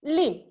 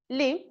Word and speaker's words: limb: It does not rhyme with limb. So write here B. Next, the last word of third line is him and it rhymes with limb. Limb. Okay, B is silent here.